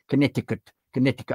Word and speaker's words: Connecticut: Connecticut. I never know how you pronounce Connecticut. Is it is the C sort of silent as in Wimbledon?